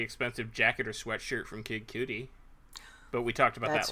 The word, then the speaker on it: Kid Cudi: You can buy a really expensive jacket or sweatshirt from Kid Cudi. But we talked about that last week. I learned at New York Comic Con it's Kid Cudi.